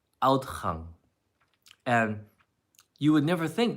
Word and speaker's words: uitgang: But it's pronounced outgang. Outgang. And you would never think that's how it is pronounced. When you hear it, it's like out.